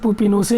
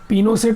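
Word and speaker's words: Pinochet: तो दोस्तों ये अगस्तो पिनोसे ही उसका नाम था। पिनोसेट ऐसे अंग्रेजी में होता है, लेकिन ये पिनोसे ही इसको प्रोनाउंस करते हैं।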